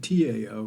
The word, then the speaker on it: Tao: It's Taoism, actually, pronounced D-A-O, or spelled T-A-O, pronounced D-A-O.